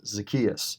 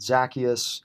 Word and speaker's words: Zacchaeus: to pronounce it, and they called him Zacchaeus, which is actually the way that I've always said it, but I've also heard Zacchaeus or Zacchaeus.